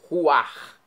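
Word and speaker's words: רוח: Ruar quer dizer sopro. Espírito, vento. Vem do hebraico. Ruar. R U a c h. Pronuncia-se ruar.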